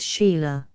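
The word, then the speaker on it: Chayla: bile frad de langlade du Shaya pronounce Sheila Arch priest of the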